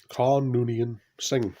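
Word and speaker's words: Khan Noonien Singh: that film the wrath of khan playing khan khan noonian singh that's the correct pronunciation so as you can see a good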